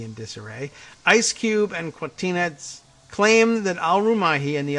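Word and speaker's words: Kwatinetz: It sort of looks like Martinez, but with a qua, K-W, Quatina, but it's Quatinetz. It's N-E-T-Z is the spelled, and Quatinetz.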